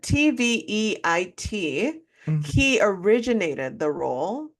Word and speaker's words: Tveit: I don't know how to pronounce his last name. Tevitt? He, Tevitt? something like that. Tveit.